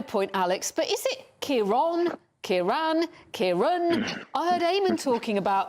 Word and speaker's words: Ciarán: It has caused a little bit of debate, but it's Ciarán, because of that. There's an accent on the A. If there wasn't an accent there, it would just be Ciarán, yeah. So, but because of that accent, it makes it an orn sound.